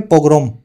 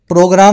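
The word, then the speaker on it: pogrom: word है अंग्रेजी में पोग्रोम प्रोग्राम नहीं है ये पोग्रोम है पोग्रोम हिटलर ने की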